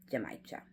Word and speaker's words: genmaicha: as in Mary, A I C H A, Jamaica. So, there you'll find Jamaicha and a bunch of other green teas.